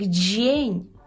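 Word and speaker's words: dzień: Шостий секрет – це є буквосполучення «д», «з» і «е», яке читається як «дже», «дже», «дже». Тут відбуваються такі впливи, що там насправді всю кашу заварює нам буква «і». «І» впливає на «дз» вплив... і робить нам «дж», а «і» сполучається з «е», і ви знаєте, що воно читається як «є».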